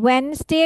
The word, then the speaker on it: Wednesday: ওয়েনসডে কিন্তু আমরা ডিটা উচ্চারণ করব না, ঠিক আছে? কি কি করতে হবে? ওয়েনসডে, ওয়েনসডে, নো ডি is pronounced, ওয়েনসডে।